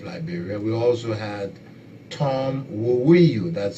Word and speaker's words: Woweiyu: We also had Tom Woweiyu, that's spelled W-O-W-E-I-Y-U, Tom Woweiyu.